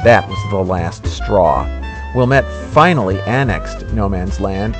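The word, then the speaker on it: Ouilmette: Antoine Wilmette, that's spelled O-U-I-L-M-E-T-T-E,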